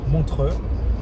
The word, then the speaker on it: Montreux: I don't know how to pronounce it in English. I mean, in French, I pronounce it Montreux, and it's great.